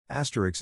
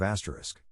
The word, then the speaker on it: asterisk: quarter especially expresso Etc Asterix instead of asterisk my co-worker keeps saying ask Ricks instead of asterisk it drives me insane